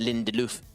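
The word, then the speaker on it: Lindelöf: Lindelof there, or as it is actually pronounced, Lindelof.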